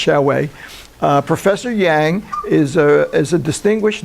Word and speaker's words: Xiaowei: That's the way it's pronounced, Xiaowei.